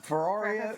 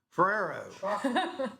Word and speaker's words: Ferrero: Okay, you guys know the Ferrari? I'm not sure if I'm saying it right. The chocolates. What? No, the Ferraro. chocolate. Yeah. Ferrari. Ferraro. Ferrero. Yes. No one can say it, but the little chocolate